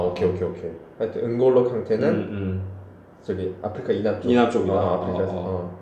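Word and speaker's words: Kanté: 왜냐면 그 이에 이 이렇게 적혀 올라가. 그러니까 원래 아무것도 없으면 으는 발음이 안 나요. 그냥 콩트가 될 건데 이게 얘를 캉테라고 얘기하는 거는 무조건 이게 있어서 그래. 이 액센트가 적혀 있어서 그래.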